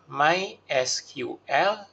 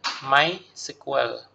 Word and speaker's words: MySQL: Kali ini kita akan membahas mengenai basic data atau database dengan menggunakan MySQL atau orang juga sering membacanya dengan MySQL.